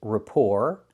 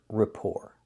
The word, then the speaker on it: rapport: And the t at the end is silent. Don't pronounce the t.